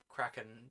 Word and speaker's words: Kraken: Kraken to rhyme with shaken. Oh, it's Kraken then, not release the Kraken.